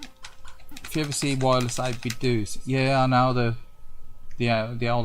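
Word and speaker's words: 8BitDo: Is it Homer Simpson do, or is it Scooby-Doo? Do, it's do, re mi. Do, so it's Homer Simpson do.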